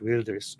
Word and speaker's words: Wilders: who's actually pronounced Geert Wilders in Dutch. I think the W for them is a V, like in German, isn't it?